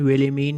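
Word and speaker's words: Wilhelmine: इस नाम की प्रोनाउंसिएशन विलिमीन ही होगी, तो एक का नाम तो विलिमीन है और दूसरे का नाम है पीटरकिन।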